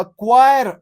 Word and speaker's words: choir: A shawl of fish, a क्वायर of singers. ठीक है, singers के ग्रुप को क्वायर कहते हैं। This is the spelling CHOIR।